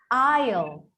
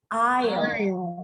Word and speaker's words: aisle: Now, some of these words, when they were trying to get into the English language, the S, it was pronounced, but then it evolved and we didn't pronounce it anymore.